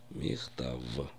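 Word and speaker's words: מכתב: Лех Мих ТАВ Хавер Обратите внимание как Я произношу слово письмо хта в потому что в русском языке многие произносят Ф В конце слова вместо звука в получается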